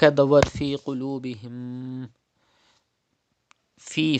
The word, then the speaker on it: فِي: Fi, first of all, you have to stretch ya madda. There is zir before ya sakin, it is ya madda. You have to stretch up to 2 harkat like this.